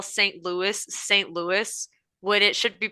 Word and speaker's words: Louis: It should be pronounced Louis.